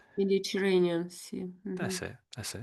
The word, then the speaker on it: Mediterranean: Some uh names, surnames, pronunciation. Mediterranean sea. Is it correct? Yeah, that's that's pretty good. Yes. Mediterranean. Mediterranean.